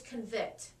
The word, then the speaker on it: convict: The word is convict, but the first syllable is con.